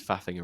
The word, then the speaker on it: faffing: Like, stop Yeah, faffing faffing around. around. Yeah, It's just so exactly. funny. You gotta say it in a British accent though. How do you say fuffing? Faffing. Faff. Fa. Oh, okay. Faffing.